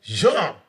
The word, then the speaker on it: Jean: Nel, Nel, Us, Us, Wyclef, Wyclef. Jean. There you go. Yeah. So, Don't ask my American friends to wait. pronounce that. They already call me Gene.